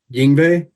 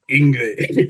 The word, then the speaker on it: Yngwie: And I was a 14-year-old kid at the time, and I was pronouncing it Yngwie, and he corrected me in a very like,